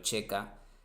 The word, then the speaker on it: checa: de la unión soviética la ck pronunciado Checa previo a a la